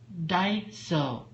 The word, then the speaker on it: Daiso: Daiso.